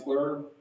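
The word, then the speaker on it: FLIR: atlas vhb metro traffics teledyne fleur that's how you pronounce that you guys thank you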